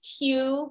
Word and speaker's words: Que: Well, my name is Q, pronounced Q-U-E, excuse me, spelled Q-U-E.